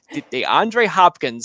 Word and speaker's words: DeAndre Hopkins: DeAndre Hopkins.